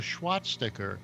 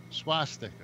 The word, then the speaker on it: swastika: near where I live some guy put a SWAT sticker in concrete watch a SWAT sticker a SWAT sticker you pronounce it Prosecco all right swastika no you just said it again a swastika